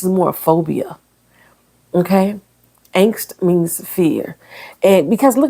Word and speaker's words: Angst: So angst. And in German, they pronounce it Angst.